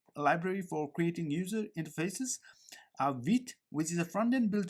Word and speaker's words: Vite: So I'm inside of official documentation of Vite, and let's head on to get started with Vite. So Vite is a French word pronounced as vite, and it means fast.